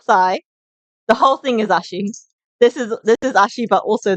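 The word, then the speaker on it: 足: Um, the whole thing is ashi.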